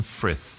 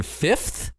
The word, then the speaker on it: Frith: And they say Frith Street, and I took a note on it because I thought they were just mispronouncing Fifth. No, Frith. Yeah. Frith is a famous street.